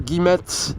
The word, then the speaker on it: Guillemette: And Guillemette, or Guillemette, is indeed how I should pronounce Alex's last name.